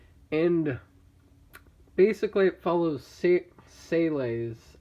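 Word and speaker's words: SEELE: And basically it follows Sele's. I feel like it should be pronounced Seals, but that's how they pronounce it in the show.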